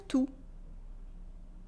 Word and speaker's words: tout: Merci pour tout with a silent T. Merci pour tout.